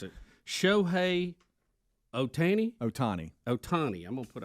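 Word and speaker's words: Ohtani: correct Speedy has given me the way to pronounce it shoh Otani Otani Otani I'm gonna put a o there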